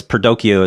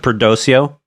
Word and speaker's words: Perdoceo: Okay, because Wikipedia says Perdoceo is with a hard K, but you pronounce it Perdoceo?